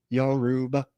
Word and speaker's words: Yoruba: Yoruba.